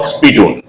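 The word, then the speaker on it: spittoon: s p i dou t dou o n spun it's called spun the wife of the landlord told the Ser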